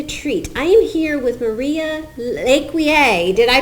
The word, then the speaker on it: Maria Lecuyer: it is a treat I am here with Maria leier did I pronounce it right yes you did great great